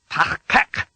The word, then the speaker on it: Tachkek: There's a new sound at both the beginning and end of the second syllable, kek. Be careful. This is not the Federation standard K sound. You make it like a K, but, as you did for shove the back of your tongue as far back into your mouth as you can.